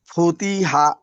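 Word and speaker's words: فُتِحَا: হাপেশফু তজেতি হাজাবর হা ফুতি হা। আবার বানান করেন।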